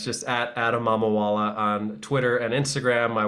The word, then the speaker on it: Mamawala: So yep, Mamawala.